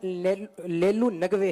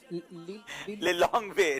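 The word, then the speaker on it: Lilongwe: इसका कैपिटल लेलू नगवे है। लिलोंगवे नहीं, आपको जो उर्दू में लिलोंगवे।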